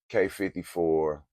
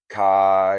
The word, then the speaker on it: Quai: of people think it's Kai or Quai but actually uh it's a French word and it is actually pronounced K uh the pronunciation of